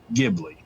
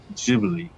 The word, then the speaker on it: Ghibli: plane and in italian it is purdue or pronounced ghibli however see that's why that is correct however